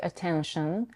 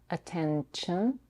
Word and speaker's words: attention: This often happens when the fricative sh or s comes after the n sound. Sh becomes ch and s becomes t. It can happen in words like attention, attention, pronunciation, pronunciation, etc.